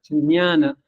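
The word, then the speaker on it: jñāna: diferentes maneras en realidad la pronunciación de debería haber sido una como la yanat no como la ya de yanat y con una en entonces ñana pero con el tiempo se pronunció más como una una gutural como una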